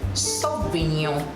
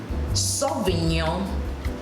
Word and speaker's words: Sauvignon: Cabernet Sauvignon. Now, Cabernet is spelled C-A-R-B-E-R-N-E-T.